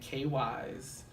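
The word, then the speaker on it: KYZ: Virginia, out of Norfolk, named K-Wise, and you spell it K.YZ.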